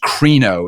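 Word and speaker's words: κρίνω: The word judge that shows up in Matthew Matthew 7:1 uh is a Greek word uh that's pronounced kro.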